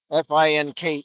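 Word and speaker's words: Finke: Fin spelled with an E, F I N K E, but coach before the game said they just pronounced it fink.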